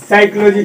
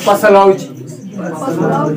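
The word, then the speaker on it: psychology: तो पसलाउजी जानता है क्या है, साइकोलॉजी पी साइलेंट है, इसीलिए उसका प्रोनाउंसिएशन क्या कर लिया है।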